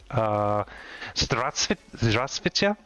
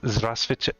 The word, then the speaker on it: здравствуйте: Здравствуйте or привет, depending on if you want to be polite or not. Привет is hey buddy, and здравствуйте, I'm saying it wrong.